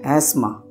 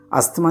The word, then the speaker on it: asthma: एस्मा, अस्थमा नहीं बोलते हैं, एस्मा।